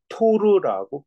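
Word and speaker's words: Torr: 760mm hg에서 얘는 76 읽을 때는 토리첼리라고 읽는게 원칙이지만 선생님 주변에 이거를 소리칠 일하고 있는 사람 하나도 못 봤어요 자이 사람 보통 사람들은 이거를 토르라고 표현하고 있더라구요 토르 자 그래서 토르라는 값으로 나타내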